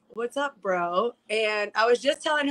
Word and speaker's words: Breaux: empowerment maddie lynn bro i first thought that her last name was brew because she's from the south from louisiana and a lot of that like the southern accent they e-a-u-x is spelt like oh so i'm like am i right am i wrong and she's like no it's like bro so maddie let's first